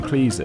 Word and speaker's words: Cleese: rhyming with fleece and it actually rhymes with cheese and he says he